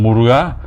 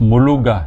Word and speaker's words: Muruga: Donc, un peu comme Muruga, beaucoup de gens prononcent Muluga, c'est comme s'il y avait un L.